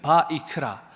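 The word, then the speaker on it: ויקרא: 그리고 말씀하신다고 이야기하고 있습니다 우리는 위기라고 읽지만 유대인들은 바이크라 그을 그 불러서 말씀하시는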